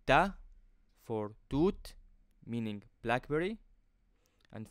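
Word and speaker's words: ت: Now, let's move to the next letter, which is Ta. Ta. Again, it looks like a plate shape with the 2 dots above. Like the English letter T in the word table, it's exactly the same pronunciation.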